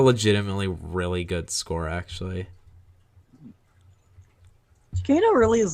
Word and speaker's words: Giacchino: How do you pronounce his last name? Michael Giacchino. Michael Giacchino?